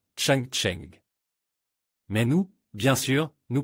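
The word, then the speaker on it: 长城: Et les Chinois dans leur pays d'origine appellent la grande muraille à leur manière Chang Cheng.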